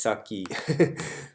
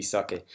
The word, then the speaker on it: sake: I think I mispronounced sake as saki, which is okay because a lot of people do that all the time. But yeah, it should be sake.